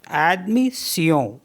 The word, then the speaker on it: admission: अब SSION को भी सियों पढ़ते हैं, जैसे ADMISSION, तो इसको पढ़ेंगे एडमिसियों, एडमिसियों मीन्स एडमिशन।